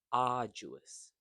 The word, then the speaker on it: arduous: So it's pronounced as aruous meaning difficult and tiring together. Preparing for IELTS while working full-time is arduous.